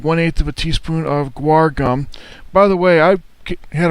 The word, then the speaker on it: guar gum: of a teaspoon of guar gum by the way I had a professor call it gore gums that's what I called it but then I had people correcting me saying it's guar gum something all right fine